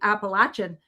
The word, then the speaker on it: Appalachian: And they said when I went to those regions, they said and if you don't pronounce it properly, Appalachian, they'll throw an apple at you.